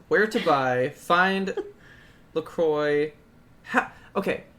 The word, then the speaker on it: LaCroix: where to buy find Lacroix ha ok how do you say this word what business no little Lacroix or look wha what is it it's Lacroix but ironically we say Lacroix ok so what is